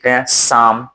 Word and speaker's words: साम: स ये हो गया यानी कि साम है साम दाम दंड कहता है तो साम कहते हैं लेकिन वही श्याम कहना हो तो शाम हो जाता है तो ये तो रहा फर्क उच्चारण का फर्क हो गया अब तीन श